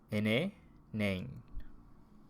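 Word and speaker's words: ነኝ: In Amharic we have ine, neng. I just want to emphasize the accent on the N.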